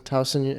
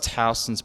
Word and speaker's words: Towson: Towson, am I pronouncing that right? Yes, Towson University.